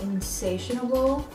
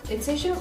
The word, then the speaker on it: Insatiable: the new Netflix show Insatiable. Insatiable? Is that it? Inflammable? Incredibles 2? It's Insatiable. I'm just now realizing that this is pronounced insatiable, not insatiable. I don't know why. I added an extra syllable.